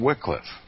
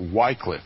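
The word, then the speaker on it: Wycliffe: spiritual Reformation footsteps of John Wickliffe or Whitecliff if if that's how you prefer to pronounce his name the morning star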